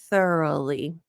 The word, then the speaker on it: thoroughly: came up thoroughly thorough thoroughly the GH is silent the ouu is just like a u it's a tough word